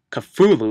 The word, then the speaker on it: Cthulhu: book becomes harmful when followers of Cthulhu or Cthulhu as he's pronounced and caught in the HP Lovecraft but here he's called Cthulhu why they called him khutulun not Cthulhu I don't know it's just what they